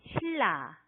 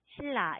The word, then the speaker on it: 신라: 네, 신라 이렇게 쓰는데 여기도 지금 보면 니은 소리하고 리을 소리가 만났죠? 네, 발음이 어떻게 돼요? 그렇습니다. 이것은 네, 이렇게 읽어야 해요. 신라, 신라 이렇게 읽어야 합니다.